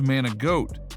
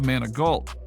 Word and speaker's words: Manigault: high school teacher who constantly mispronounced his name as Man-a-goat instead of its correct pronunciation of Manigault.